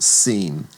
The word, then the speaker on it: shin: The next letter is called sheen, also called seam. And the difference will be if the doggish is on the right hand side or the the right arm of that letter, it gets the sh sound. If it's on the left, it gets the s sound.